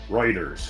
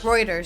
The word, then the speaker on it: Reuters: is pronounced. Reuters. Reuters, sorry.